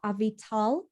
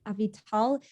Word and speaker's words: Avital: look up my name avital avital it's spelt like a vital it's just not pronounced that way so it's a b